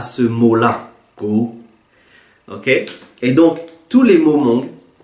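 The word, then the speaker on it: kuv: Donc là, je le prononce go.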